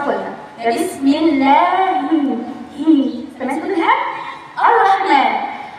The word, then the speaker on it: الرحمن: الرحمن تبدأ بهمزة وصل. همزة وصل نبدأ بها بسم الله، ولكن عند الوصل أسكت مش هنطقها يعني. بسم الله الرا بدل الراء، يعني سقطت الهمزة الوصل يبقى الراء، نفس الراء. الراء أيضا حرف مشدد بالفتح وليس بالضم. بسم الله الرو هذا خطأ، ولكن بسم الله الرا